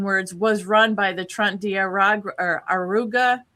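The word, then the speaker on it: Tren de Aragua: is pretty strong words, was run by the Trent Diaragua or Aruga. How do you say that? Trump Trend Deiagua.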